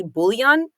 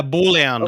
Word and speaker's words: Boolean: know that you could use did you say bullion what is it called yeah Boolean okay so I think they come from like